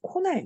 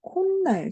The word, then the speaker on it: 콧날: 이렇게 코와 날, 자, 이것이 이제 또 합성어를 이루게 되는데, 우린 이렇게 만들어진 합성어 읽을 때 코날 이렇게 안 해. 역시 또 콧날, 자, 이렇게 발음한단 말이야.